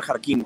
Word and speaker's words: Jarquín: Dice Adriana Jarquín, con acento en la I, perfecto, querida Adriana.